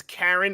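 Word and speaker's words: Caryn: the pronunciation on this it's Karen Elaine Johnson but it's spelled c a r y n I assume it's Karen but oh I I'm pretty sure that's Karen just looking at it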